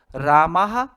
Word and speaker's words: रामः: कर दिया रामः रामऊ रामाहा संस्कृत में जहां भी विसर्ग आए उसको ह की तरह उच्चारण करना चाहिए रामः रामऊ